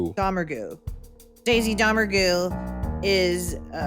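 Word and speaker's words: Domergue: Dammer.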